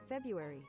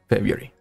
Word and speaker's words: February: But the first R is like a trap. It's like, you should not say this. Why are you written like that in that case? Why? Whatever. February. February.